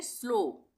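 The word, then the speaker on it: slow: ओ ही करेंगे उसका उच्चारण। ओ का। जैसे इसको हम पढ़ेंगे स्लो।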